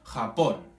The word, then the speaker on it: Japón: Por ejemplo, Japón. ¿Sí? Nosotros ponemos énfasis en el pon, de Japón.